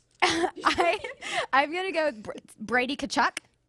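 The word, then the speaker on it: Tkachuk: I'm gonna go Brady Kachchuck. Brady Kachchuck.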